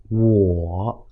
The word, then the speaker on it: 我: show you how to pronounce W O add 3rd tone ǒ connect them smoothly w ~ ǒ wǒ this means “I” or